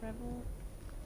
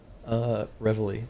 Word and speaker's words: reveille: Sorry for the revel. How do you say that again? Reveille. Reveille. I knew it.